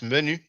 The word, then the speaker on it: Menu: it's pronounce menu in French but you know you pronounce it menu in English in I mean house